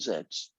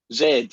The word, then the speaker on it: Z: three correct z2 z2 you said z there you're not pronouncing it properly i had to get that in come on zed remember it's a remember that new letter of the alphabet i've introduced to america called zed it said it looks